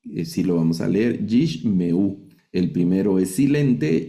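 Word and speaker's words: יִשְׁמְעוּ: Luego la segunda regla dice, el Sheva se pronuncia cuando está precedido de otro Sheva. Es decir, si hay 2 Sheva en sílabas seguidas, vamos a leer el segundo. El primero no se lee y el segundo sí lo vamos a leer. Así como en esta palabra Yishmeu, esta palabra hebrea Yishmeu, el primer Sheva que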